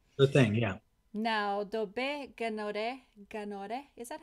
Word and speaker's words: Gnahoré: Now, Dobet Gnahoré, is that how you pronounce her name? It's Gnahoré, like with like gnocchi, you know, gnocchi. Like Gnahoré.